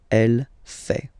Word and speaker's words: fait: then L femina fake final T not pronounced ill elle fait so if we take